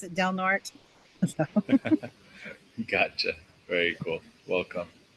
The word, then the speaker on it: Del Norte: Del Norte, but up here they pronounce it Del Norte.